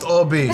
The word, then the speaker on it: Obby: Is it Albie over there on the side? Yeah. To Albie? To Obby? Obby's over here. Pronounced Obby.